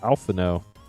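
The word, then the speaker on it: Alphinaud: Also got Alphino, who apparently doesn't pronounce the D.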